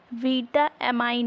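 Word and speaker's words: vitamine: के लिए उपयोगी अमीनो ग्रुप को ही उन्होंने बीटामाइन नाम दिया था स्टार्टिंग में जो स्पेलिंग जो है रखी थी वैज्ञानिकों ने विटामिन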